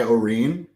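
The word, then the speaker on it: Orine: Kai Oreen.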